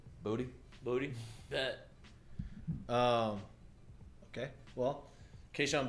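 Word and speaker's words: Boutte: of camp and they're like how do you pronounce it he said booty booty that um okay well keyshawn booty there you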